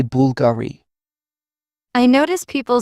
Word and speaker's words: Bulgari: Some pronounce Bulgari with stress on the gay. Italians say Bulgari.